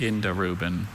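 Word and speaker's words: indirubin: Indarubin. Indarubin. Indarubin. But there's still that schwa, Indarubin. second syllable.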